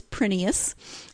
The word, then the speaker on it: Prineas: pronounce her name and she says it is prus it is Greek and actually in Greece they would pronounce it prus but when her husband's family immigrated they they changed it to prus so her name is